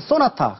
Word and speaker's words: 쏘나타: 소나타는 차다 이래 가지고요 발음을 쏘나타 굉장히 강하게 발음을 하기 시작했습니다 이때 바로 쏘나타 2세대가